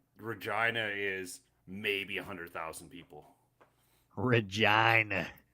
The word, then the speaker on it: Regina: No, it's Regina.